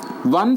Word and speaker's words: one: one one rupee note though one starts with a vowel but it doesn't produce vowel sound here it sounds one va so va is not a vowel sound so we should use